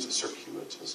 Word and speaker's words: circuitous: a weird circuitous route circuitous yeah yeah that's right circuitous yeah I thought I was missing a syllable something like that as